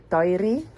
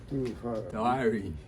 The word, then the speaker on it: Tairi: Tairi. Diary.